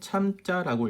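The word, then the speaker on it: 參: 참고로 이 한자는 석삼자도 되고요. 그 다음에 참여하다고 할 때는 참자라고 읽어야 된다는 거 꼭 기억하시고요.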